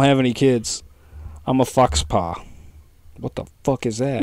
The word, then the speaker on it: faux pas: any kids I'm a fox paw what the fuck is that I think it's a faux pas f-a-u-x is is it f-a-u-x